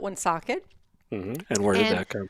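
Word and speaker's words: Woonsocket: rhode island is called one socket most people would say um socket because that is how it's spelled but we call it one socket and where did that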